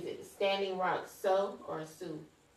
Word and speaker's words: Sioux: Is it Standing Rock Sioux or Sioux?